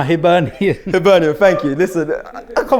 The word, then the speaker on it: Hibernian: I was going to say hibernation because that's where we need to go, but no, Hibernian.